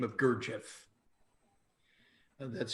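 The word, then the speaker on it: Gurdjieff: man a generation ago by the name of gurjev and that's spelled g-u-r-d-j-i-e-f-f a spiritual master and gurjev was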